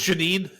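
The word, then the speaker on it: Janeane Garofalo: I mean, Janet Garofalo, she was fabulous. Janine Garofalo. It's Janine. Is that how you pronounce Garofalo, it?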